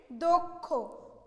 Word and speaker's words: দক্ষ: ঠিক সেভাবে এটা কি হবে, দ এর পরে ক্ষীয় আছে, দয়কার হবে, ক্ষীয় থাকলে কি হবে, প্রথমে কয় হসন্ত তারপরে ক্ষয় একটা ওকার হবে, এটার শুদ্ধ উচ্চারণ হবে দক্ষ, কক্ষ দক্ষ, এভাবে আমরা লিখব।